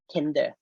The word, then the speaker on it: TNDR: network for disaster resilience, or we call TNDR, spelling TNDR, then we can pronounce tender.